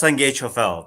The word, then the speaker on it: Sangye Choiphel: It's pronounced, Seriously yeah, though, it's pronounced Sangye Choiphel, basically.